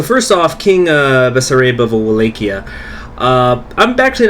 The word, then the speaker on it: Wallachia: Wallachia, that's it. That's how it's pronounced.